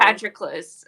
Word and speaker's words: Patroclus: Patroclus. I just say it. Patroclus?